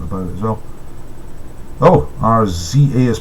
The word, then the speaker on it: RZA: Oh, RZA is pronounced RZA, not RZA, mate.